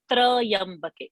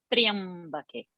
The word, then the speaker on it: Triyambake: So Trayambake people say. It is not Trayambake. So Tra is half. Tra and Ya together is Triya. Triyambake. Triyambake. Triyambake.